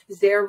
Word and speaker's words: Zare: or or you know it's just there there rhymes with care so uh in case you're wondering